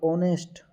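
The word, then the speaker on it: honest: इसलिए ये हमेशा वोवेल, इसमें एच जो है वो साइलेंट हो जाता है।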